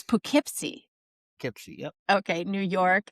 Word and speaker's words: Poughkeepsie: Poughkeepsie. No, you said it right, Poughkeepsie.